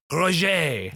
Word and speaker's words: Roget: hmm I should have looked up how to pronounce that rogent Rogen is ro JIT ro ro G et Roche the author of Roget's thesaurus who was born